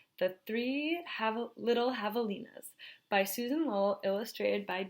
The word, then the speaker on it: javelina: Javelina, pronounced Javelina, comes from a Spanish name for the collared pecanary,